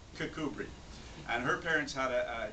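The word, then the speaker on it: Kirkcudbright: she was born in a little town called cbri Scotland it's a Border Town it's right on the coast it's it's pronounced cbri but it's spelled Kirk cud bright but it's cbri and her parents had a a chance to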